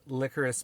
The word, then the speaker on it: licorice: that we're going to be discussing is called licorice pizza um I'll get into what I'll get